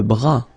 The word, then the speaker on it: bras: Le bras. Same thing here. Final S not pronounced.